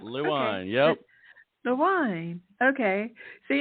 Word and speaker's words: Lewine: yeah it's lewine L wine just the way it looks L wine yep the wine okay